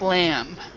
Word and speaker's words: lamb: I think that would usually be called lamb. Lamb. Lamb, yeah, lamb. So we this B is silent, so we just say lamb. Lamb. And don't say the B.